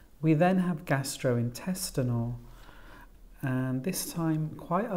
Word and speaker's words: gastrointestinal: the fourth syllable analgesics and this time four syllables the stress on the fourth syllable antibiotics we've got well